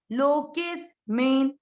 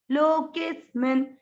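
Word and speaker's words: लोकेऽस्मिन्: लोके, आधा स इसके साथ पढ़ा, लोकेस मिन, लोकेस मिन। इस मी को लंबा नहीं करना, क्यों? क्योंकि मी की मात्रा छोटी है। जब भी मात्रा छोटी है तो उसको उच्चारण में दीर्घ नहीं करना है।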